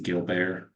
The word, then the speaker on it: Gilbert: here on the disease the gilar Gilbert Syndrome that's not pronounced Gilbert Syndrome um so you'll be